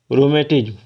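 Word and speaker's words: rheumatism: बोलेंगे रूमेटिज्म क्या बोलेंगे रूमेटिज्म स्पेलिंग क्या है स्पेलिंग है आर एच ई यू एम ए टी आई एस एम रूमेटिज्म एक मिनट रेड कलर को चुन लेते हैं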